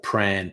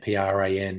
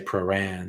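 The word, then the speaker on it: Prahran: track because it's turak or pran p-r-a-n because it's in paran um because that's just how locals pronounce things they didn't say turak the track and they didn't say pro-ran they say pran all right now i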